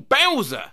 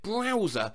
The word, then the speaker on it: Bowser: learned the correct pronunciation of persimmon i've been pronouncing it like the name of a digimon bowser as in the mario character my parents are